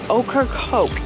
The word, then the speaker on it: Ocracoke: Ocracoke, in case you're wondering, is spelled okra and coke put together. But if you had a piece of okra. No, it's okra with a C.